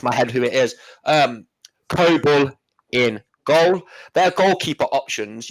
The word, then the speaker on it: Kobel: Well, you say Kobel. That's how you say it in Germany.